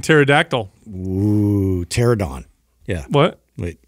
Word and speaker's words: pterodactyl: some sort of history why is there a p in pterodactyl pterodon yeah what wait pterodactyl yeah pterodactyl don't worry